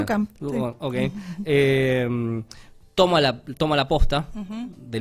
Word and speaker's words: Duchamp: Y a partir del capítulo 5, este físico que es Duchamp, ¿cómo se pronuncia? Duchamp.